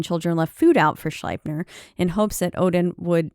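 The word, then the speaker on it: Sleipnir: eight-legged horse named um I'm gonna go with schleipener because it's EI and in German you would pronounce the I which he wrote with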